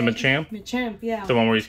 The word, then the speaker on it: Machamp: Machamp, yeah.